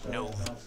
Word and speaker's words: Nove: It says here on the paper he wants his name pronounced Nove. Nove.